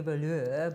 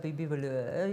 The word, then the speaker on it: Vahlour: And he had to practice with me a few times to actually pronounce it correctly, Vahlour, Bibi Vahlour, you know.